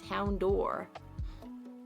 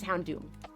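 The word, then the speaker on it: Houndoom: But I read it before I played the games before I knew the word daer. So it's hound door and it's hound doom.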